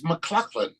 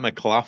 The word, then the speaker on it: MacLachlan: It's spelled differently. It's McLaughlin. Oh, it's McLachlan. Okay. Yeah, it's not McLaughlin.